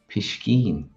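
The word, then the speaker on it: piscín: That's pishkeen.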